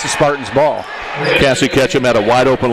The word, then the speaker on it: Cassie: When I was getting pronunciations over there, I said it's Cassie Ketchum, and the assistant coach said, "Good, you said Cassie. Everyone says Casey."